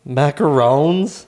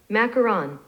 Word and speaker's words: macaron: The only reason I thought it was macaron was because we watch a lot of cooking shows, and that's usually how I pronounce it. Oh. But I like to say macaroon. Anyways, we booked the buffet,